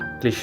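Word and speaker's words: cliché: बोलते हैं लेकिन एक्स स्पेलिंग में लिखते हैं क्लिश क्लिश यानी कि कोई चीज जो बहुत ओवर यूज्ड हो चुकी है गिसी पिटी क्लिश क्लिश डिजावू डिजावू वो फीलिंग होती है जो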